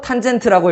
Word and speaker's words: 탄젠트: tan이라고 쓰고 탄젠트라고 읽어요.